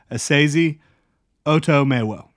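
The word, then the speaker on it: Esezi Otomewo: You had Asezi Otomewo. I'm pretty sure I got that corrected. The pronunciation there. Asezi Otomewo.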